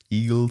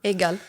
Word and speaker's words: Egal: I read in one of your LinkedIn endorsements given by, not sure if I pronounce them correctly, Eagle Sailman or Salman? No, Egal, yeah.